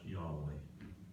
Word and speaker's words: Yahweh: generation to generation well in hebrew the words i am are pronounced yahweh and when we talk